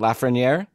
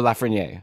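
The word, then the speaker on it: Lafrenière: let's just pick one now is it la ferraniere or la ferniere which one do you want to do if you want to pick one yes let's pick it right this isn't like i'm not saying this for the show somebody somebody told us on our discord series yeah i think it was lafreniere okay so are you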